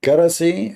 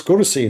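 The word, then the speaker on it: كرسي: I mean, it's kursi, not karasi.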